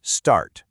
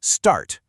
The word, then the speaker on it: start: Over on the left in the UK, you'll hear start. Notice that the R is pretty much silent. But then on the right in the US, it's start. You get that hard R sound at the end. Same spelling, same word, but two totally different sounds.